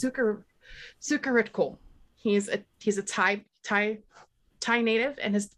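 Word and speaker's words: Sucharitkul: this up even though I know how to pronounce it. It's Sukaritkul.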